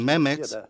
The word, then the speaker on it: Mehmet: it met when saying Mehmet we shouldn't say any Mets poor man meat we should keep the same time and spend the same length of time for both syllables when we say Mehmet I'm MX and give